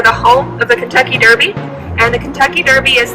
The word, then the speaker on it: derby: goes to see it it's also spelled the same way they just say darby over in england we say derby here in kentucky and he was inspired